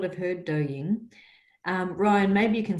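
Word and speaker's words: Douyin: listening in queensland who may not have heard dou ying um ryan maybe you can spell it out so we know how to spell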